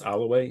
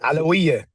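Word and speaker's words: Alawieh: So Alaway, am I doing that? Alawiyah. There we go, Alawiyah.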